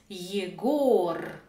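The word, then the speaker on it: Егор: Celui-ci se prononce yegor. Celui-ci se prononce yevo. Mais pourquoi la même lettre G donne deux sons différents? Le premier mot est un prénom masculin, yegor.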